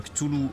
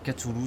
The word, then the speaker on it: Cthulhu: Donc, pour revenir dessus, encore une fois, on dit bien Cthulhu en français, Cthulhu c'est la prononciation anglaise.